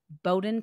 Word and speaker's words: Bowdoin: She has a master's degree in education policy from Harvard University and a bachelor's degree in economics from Bowdoin College. Did I pronounce that right?